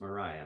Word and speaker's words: Mariah: I always say her name wrong because it has a it's Y. spelled a little different. Yeah. Mary A, but it's Mariah.